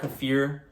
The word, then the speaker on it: kefir: at hand now this this is water kefir I just ordered water fear some people pronounce it like that I just ordered